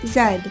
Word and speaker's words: zed: the alphabet in britain the last letter is pronounced zed z-e-d rather than the use of z-z-e-e in the u.s click on the next